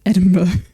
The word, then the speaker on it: Edinburgh: But yeah, because it's like, I think it's meant to be like a shortened word of borough, but they've kind of shortened it to bruh, so it's like it's meant to be like Edinburgh, but it's like it's spelled like Edinburgh. And to be honest, like if I was younger and seeing it for the first time, I'd have said Edinburgh as well, but it is Edinburgh.